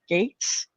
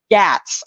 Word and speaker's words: Gaetz: Is that how you pronounce the Congressman? Gates, Gaetz. Gatz.